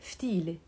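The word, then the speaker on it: فتيلة: We call it ftile. Ftile. Now, ftilto is his ftile. So why? Because the word ftile has a te marbuta we don't pronounce.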